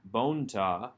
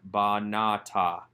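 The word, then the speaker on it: בָּנְתָה: comments under the bait telling us that this is a long a a comet's not a comet's hat for short o it's not bonta but ba nata we have the root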